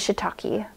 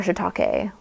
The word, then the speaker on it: shiitake: is brittle gill and this one is shiitake um or shitake however you want to pronounce it these are both on